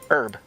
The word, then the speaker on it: Herb: Job, polish, herb. The answer? When you capitalize each word, they are pronounced differently. Instead of job, it's Job. Instead of polish, it's Polish. And instead of herb, it's Herb, the name.